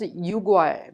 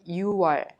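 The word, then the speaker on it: 유월: would you say june if you add water to you the number six it becomes yugoi but we don't pronounce it ugoi just you pronounce it you are you are this is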